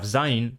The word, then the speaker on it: zayin: Words that have zayin, pronounced z in Biblical Hebrew, sometimes have daleth, pronounced d or the in Biblical Aramaic.